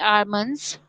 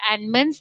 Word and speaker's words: almonds: So those who are not having almonds, they are not called almonds, they are called almonds. Okay, all of you remember, because L is silent. So it is almonds, not almonds.